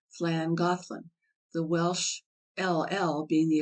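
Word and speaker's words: Llangollen: of the oldest towns on the D is pronounced flang gothan the Welsh LL being the equivalent of rthl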